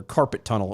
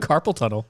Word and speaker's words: carpal tunnel: blind hairy palms or carpet tunnel or carpal tunnel let me say it right carpal tunnel I read it as carpet I'm like wow that's